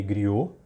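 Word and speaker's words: Gruau: eu coloquei é o Renê Grill se escreve grual ele ilustrou muitas revistas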